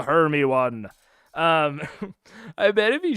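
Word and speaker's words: Hermione: keep it moving uh I pronounced her name totally wrong for yearsing my brain hairy moan hay moan I see it I see Harry Moon her her Heron Herm one it's a Herm one um I bet if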